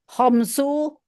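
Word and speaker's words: خمسُ: Homsu Hmm, saatin. Homsa saatin. ya. Homsa itu kalau dimasukin ke kalimat, tapi karena kita bacanya tanpa memasukkan ke kalimat, Ya, maka homsu aja bacanya.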